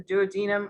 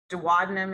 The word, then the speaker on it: duodenum: of the small intestine the duodenum or duodenum it depends on who you are how you pronounce it right i i always heard duodenum but then i had a friend who um who was taught duodenum so then we make